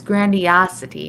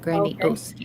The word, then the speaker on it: grandiosity: It's grandiosity, not grandiosity. Okay.